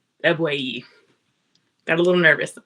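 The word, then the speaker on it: Ebuehi: Uh, and I believe it was pronounced e ebui. Got a little nervous. Eue is how you pronounce it.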